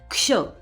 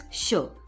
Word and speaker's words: क्ष: तो इस क्ष में पहले मैं क बोल रही हूं। क्ष। तो क को एकदम कम बोल रही हूं।